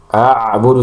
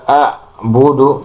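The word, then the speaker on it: أعبد: Dan kesalahan selanjutnya yang sering terjadi dalam pengucapan huruf ain itu tidak mengalirkan ee suara pada huruf ain. Jadi dia baca waa a'budu jadi a'budu mentok di ain tanpa ada aliran itu salah.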